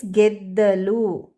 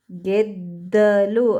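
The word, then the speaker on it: ಗೆದ್ದಲು: It is geddalu. Geddalu. Again ಒತ್ತಕ್ಷರ ದ a. So the is adding to the second one while pronouncing, and a vowel geddalu.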